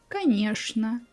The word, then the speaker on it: конечно: Sometimes ch sounds like sh. Also, you can hear many words like this. Что, конечно, скучно.